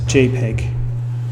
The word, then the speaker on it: JPEG: photographic experts group and there's no dispute about how to pronounce jpeg it's jpeg no so way back you